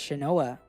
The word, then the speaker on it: Shinoa: Similarly, Shin's character is Ninja, but he says it's read as Shinoa.